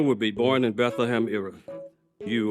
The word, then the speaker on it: Ephrathah: It's pronounced Bethlehem Ephrathah, you bozo.